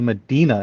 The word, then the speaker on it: Medina: Medina. Is that how I pronounce that?